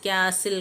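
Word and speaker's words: castle: എൻ എല്ലാം silent ആണ് silent T വരുന്നത് ക്യാസിൽ കോട്ട അപ്പോസ്തൽ പുരോഹിതന്റെ ഇതിനെ പറയുന്നതാണ് ബച്ചർ ബുച്ചർ അവിടെ ടി കശാപ്പുകാരനാണ് ബുച്ചർ എന്ന് പറഞ്ഞാൽ ടി സൈലന്റ് ആണ് ഇനി സൈലന്റ് പി വരുന്നത്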